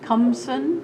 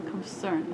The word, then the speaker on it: Khamseune: My real name, Khamseune, Khamseune? yeah, Khamseune. Okay. yeah, almost like a concern, but we call Kham because we Khamseune. spell friends. Uh-huh. Khamseune.